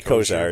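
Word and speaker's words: Kosier: You would say Kozar. It's spelled like kosher.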